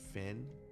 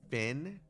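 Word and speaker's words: Fionn: down excuse me V it's pronounced Finn fion is pronounced Finn why the [ __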